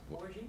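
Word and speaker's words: Bouregy: Do you know how to pronounce that, Ken? I don't want to... Borgie?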